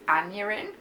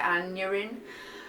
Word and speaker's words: Aneurin: Malmstrom's anatomy classes, and there he meets Aneurin. I'm pretty sure that's how you pronounce it, Aneurin, who is the assistant to Dr.